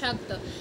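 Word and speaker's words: স্বাগত: তো এটা হচ্ছে আমরা যদি নরমালি চিন্তা করি তালব সাকার সাগ সাত আকারত সাগত। কিন্তু এখন যদি আমরা উচ্চারণ করি সঠিক নিয়মে তাহলে কি? সাগত। ঠিক আছে? সাগত।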